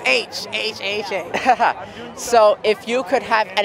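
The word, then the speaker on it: Aech: No, and I've it's a always weird thing, but mispronounced it's H.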